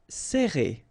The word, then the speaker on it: Serrer: Alright, so interesting here because you get this E and then double R after that. So it will open the sound of E, okay, so you will pronounce it like E.